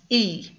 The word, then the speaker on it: y: That y by itself is one word and it's pronounced e and it means and.